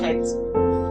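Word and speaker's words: חית: letra es la Het, que la pueden escribir como J-E-T, como la chocolatina Jet, pero se lee Het, la Shin y la Kaf.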